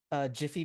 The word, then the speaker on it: GIF: Jiffy peanut butter.